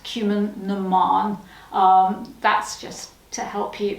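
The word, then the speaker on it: Cumann: see it and it's spelt cumin bon it's pronounced cumin that's just to help you because it's like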